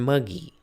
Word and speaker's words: muggee: I like the term muggy. It rhymes with buggy, refers to the mugged who was unjustly slugged.